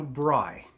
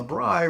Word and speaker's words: braai: They also asked for an oversized lenai and a bri that's spelled B R A AI.